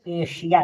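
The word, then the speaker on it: Asia: एस के बाद आई ए दिया हो या तो आई ओ एन दिया हो तो एस को श पढ़ते हैं।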